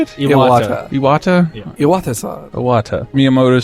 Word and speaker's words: Iwata: Iwata.